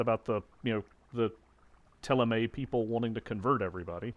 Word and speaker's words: Thélème: It feels really strange that that's pronounced Teleme when there's no accent on the E at the end.